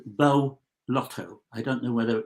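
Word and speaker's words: Beau: Bo.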